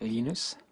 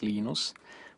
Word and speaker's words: Linus: lenus or Linus what's the exact your preferred pronunciation um when I speak Swedish it's lenus when I speak Finnish it's lenos when I speak English it's lonus and I really don't care how people pronounce